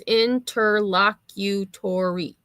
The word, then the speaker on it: interlocutory: Oh, see it told me it told me that there's six syllables. Yeah, it's saying and it actually it actually breaks it down. It says interlocutory. Interlocatory. Yeah. Weird emphasis on the third syllable.